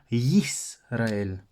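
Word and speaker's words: ישראל: point donc en hébreu en fait Israël se dit yes réel Israël et donc ça c'est important parce que certains influencés par la prononciation dans les langues autres que l'hébreu de en disant Israël mais quand ils le lisent en hébreu il ne lisent plus le you de une liste que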